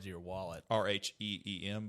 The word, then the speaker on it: Rheem: said to your wallet r-h-e-e-m but yes phonetically it is oh it's rheem so it's gonna be uh